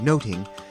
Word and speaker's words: nothing: Further, by the title's pronunciation in the late 16th century, which scholars contend that the word nothing was pronounced more like noting, Shakespeare prepares the audience